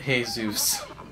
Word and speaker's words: Jesus: Jesus you pronounce it Jesus like you're greeting a Greek god he's not a Greek